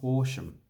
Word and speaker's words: Horsham: come down to melbourne okay so this one's horsham horse now like prostitute so what you want